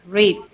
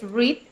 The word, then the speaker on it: read: Read is the same, es lo mismo. ¿Qué es lo que cambia? La pronunciación. Mientras que en presente es read, en pasado se dice read, pero se escribe igual, ¿sí?